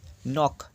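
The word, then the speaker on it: knock: এন ও সি কে নক মানে নক মানে দরজায় টোকা দেওয়া কে দিয়ে শুরু হচ্ছে কিন্তু কে এর উচ্চারণটা এখানে নেই নাইফ কে এন আই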